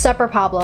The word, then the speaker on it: Super Pablo: as you can see it's pronounced supper pablo and if you pronounce it super i will come to